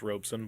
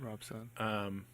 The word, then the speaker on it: Robson: our OBS o n Rob Sun pronounced Robson but it's built Rob Sun Robson and I'm working on